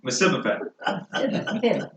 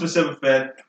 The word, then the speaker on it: Mephibosheth: Now, how do you pronounce his name? Mephibosheth.